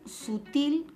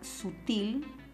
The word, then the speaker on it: sutil: caso de la palabra sutil la palabra sutil es una palabra que lleva la mayor fuerza de voz en la última sílaba entonces eso quiere decir